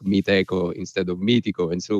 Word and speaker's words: Meetecho: the english language so we didn't realize that the extra h in there would actually sound like echo rather an eco and so we soon realized that everybody was starting to pronounce the company like meet echo instead of meeting and